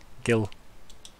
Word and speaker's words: Gil: Or, I think the name it's is Jill, it's right? A hard G, yeah. Gil. Like fish have.